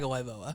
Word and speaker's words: Tagovailoa: National news, Tua Tagovailoa, I never can pronounce his last name. Tagovailoa.